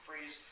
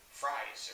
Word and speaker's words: Fries: do a joke but they changed his last name pronunciation from freeze to fries because Gordon Gordon actually R calls him freeze and then they go they make the point to say I thought it was fries it looks like fries and it was Bullock